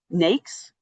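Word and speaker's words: NAICS: Um NAKES is how you pronounce it.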